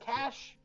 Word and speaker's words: cache: I think it's pronounced cash. it is I don't think you cash. pronounce. I don't think you pronounce the second e.